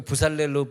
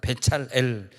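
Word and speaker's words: בצלאל: 부살렐 그러면 아무 뜻도 없어요. 부살렐이라고 하는 히브리어는 없으니까. 근데 이게 뭐냐면 베찰엘이거든. 베찰엘. 그 부살렐로 발음한 베찰엘. 왜냐하면 엘이 하나님이거든. 부살렐 그러면 하나님이 없어졌잖아.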